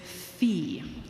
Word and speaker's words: fi: So what we do with solfege is we keep the consonant, the F, and rather than the normal syllable, we use the vowel sound E. So it's not fa anymore, it's fi.